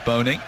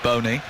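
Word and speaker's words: Bony: All of his teammates and his manager have been calling him Wilfred Boney. I was on particular pronunciation site which suggests it's Wilfred Bonny, but I thought I'd sound a little bit silly saying it like that.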